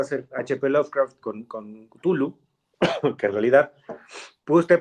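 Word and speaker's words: Cthulhu: una pronunciación exacta Bueno a mí una vez me regañaron y me dijeron que la k es muda pero bueno a mí me gusta más có suena kutulu que tulu mamadores literarios mira que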